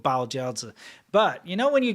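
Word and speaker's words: 包饺子: Bao jiaozi.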